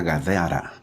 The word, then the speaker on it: Gadara: Ahora, el capítulo 8 de Mateo termina narrando que Jesús llega a Gadara. Gadara o... Sí, pues así se pronuncia, ¿no? Gadara o Gadara. La tierra de los Gadarenos.